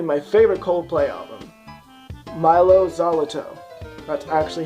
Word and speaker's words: Mylo Xyloto: part of probably my favorite coldplay of them mylo xyloto that's actually how you say it I looked